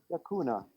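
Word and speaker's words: Yaxunah: great time there and pronounce the name properly yakuna yakuna which means love in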